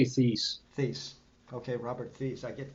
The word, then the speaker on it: Thies: How do you pronounce his last name? I never can get it right. I say Thies.